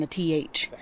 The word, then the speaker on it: Theth: So coming from Theth, I keep calling it Teth, but apparently they pronounce the H and the TH. So it's Theth.